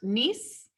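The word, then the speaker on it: niece: oops nice it's a weird spelling but it's pronounced nice this is nephew this p h in english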